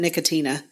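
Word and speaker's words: Nicotiana: here and there um I'm saying it's the year of nikiana and some people pronounce it nicotina I like nikiana so I'm just going to pronounce it that way and I think it's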